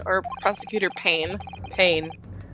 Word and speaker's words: Payne: Prosecutor Wayne or Prosecutor Payne. Payne. I think that's the one. Yeah, Payne. Like Wayne, but spelled with a P instead.